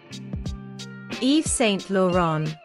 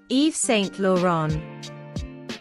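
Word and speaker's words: Yves Saint Laurent: mosino focuses on the classics in her designs Eve St lauron Eve St lauron the fashion hounds cheered Eve St laon's final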